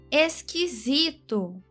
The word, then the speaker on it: esquisito: esquisito. Tônica na penúltima paroxítona.